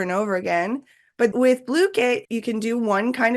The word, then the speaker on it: Blooket: And just make sure you spell it with a K-E-T, because I know I say "kit," but it's not. It's like "bloo-ket."